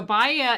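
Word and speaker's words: Baia: called tell us about that one yeah so baya is italian cuisine it's spelled b-a-i-a so you might want to go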